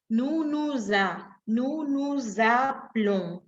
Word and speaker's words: nous nous appelons: Que yo a la hora de hablar hago una ligación entre la S y la A. Y digo, nous nous appelons, nous nous appelons.